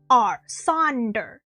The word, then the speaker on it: sonder: I believe it's spelled S-O-N-D-O-R. Sonder.